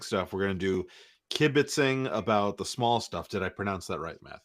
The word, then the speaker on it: kibitzing: about the big stuff, we're going to do kibbitzing about the small stuff. Did I pronounce that right, Matthew?